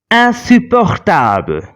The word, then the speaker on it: insupportable: Insupportable. Here, IN is not followed by a vowel, so we are pronouncing the sound in.